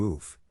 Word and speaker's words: of: In this case, the accent is in the first syllable, corresponding to oof, of, unstressed of or, especially before consonants, Below are other ways to pronounce it.